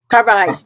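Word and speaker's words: Carvalhaes: Carvajes, that's right.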